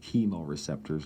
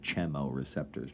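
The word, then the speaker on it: chemoreceptors: types of chemo receptors that's how that's pronounced chemo receptors not channel receptors just like chemotherapy these are chemo receptors that receive certain chemicals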